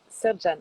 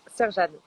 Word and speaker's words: Sercan: Ok, Serjane. Ah oui, ça s'écrit Sercan. Ok. Et ça se prononce Serjane.